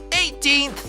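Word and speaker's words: eighteenth: Na primeira parte, as letras G e H não são pronunciadas. Então, quem sabe dizer como ela soa? Ela soa como EI. Muito bem. E quem lembra o som da segunda parte? O som é teen, como na palavra tinta.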